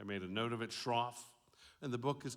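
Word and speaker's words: Schroff: correctly Laura I made a note of it Shroff and the book is called an invisible thread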